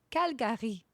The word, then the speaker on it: Calgary: Do you know how I have to say Calgary when I'm talking to French people? I have to say, j'ai grandi à Calgary. Calgary. That's how it's pronounced in French.